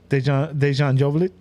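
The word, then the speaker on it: Dejan Joveljić: How'd you pronounce his name again? Dejan Joveljic.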